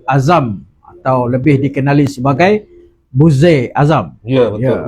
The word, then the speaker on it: Buzair: Malam ini bersama kita adalah saudara Azam atau lebih dikenali sebagai Buzair Azam. Ya, betul. Ya, Ui, kali pertama orang pronounce nama tu betul. Oh, Kali pertama. Sebab biasa orang buzzer. buzzer.